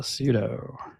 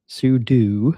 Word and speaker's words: sudo: Uh, pseudo sudo. I always pronounce a pseudo show wrong, but sudo show didn't sound right.